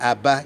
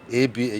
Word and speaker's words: Aba: We pronounce A, B, Chi, D. So when you are spelling Aba, you don't say A-B-A. You don't say A-B-A.